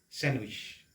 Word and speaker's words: sandwich: এই শব্দটোৰ ক্ষেত্ৰতো d is silent। d শব্দটো silent হৈ আছে নাইবা d শব্দটোক নাইবা শব্দ নহয় d alphabetটো আমি কি কৰিব নোৱাৰো pronunciation কৰিব নোৱাৰো নাইবা উচ্চাৰণ কৰিব নোৱাৰো। d টো যদি আমি উচ্চাৰণ কৰিব নোৱাৰো pronounce কৰিব নোৱাৰো তেতিয়া হলে ইয়াৰ pronunciationটো শব্দটোৰ pronunciationটো কি হ'ব sandwich। Sandwich, not sand, sandwich।